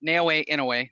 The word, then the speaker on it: Naoya Inoue: Do you believe that Jason Maloney is going to show that Naoya Inoue, I just like saying it because I know how to pronounce it correctly, unlike the Spanish and Hispanic names that I butcher daily.